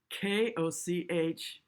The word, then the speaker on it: Koch: I used to see Greg Koch, Koch, that's really how you pronounce it.